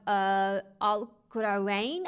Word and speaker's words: Al-Qarawiyyin: Then we have Al-Qurawain, I think I'm supposed to say it like that, but that's the one by Fatima Al-Fihriya, and that was in Fez, Morocco.